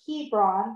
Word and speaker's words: Hebron: on your map and look for the word Hebron because that's how you pronounce it and how you